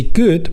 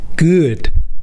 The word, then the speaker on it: ㅡ: Say “good”, but do not pronounce the “oo” part with your lips rounded. Pronounce the “oo” part with your lips flattened. “gEUd”, not “gOOd”.